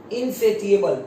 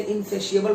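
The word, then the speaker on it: insatiable: इनसेटिएबल, इसको बोलते वैसे इनसेशिएबल बोलते हैं, मैं बोल रहा हूँ इनसेशिएबल जो सही प्रोनाउंसिएशन है।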